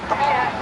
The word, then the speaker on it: Pant: My name is Ed Pant, P-A-N-T. It rhymes with plant, P-L-A-N-T.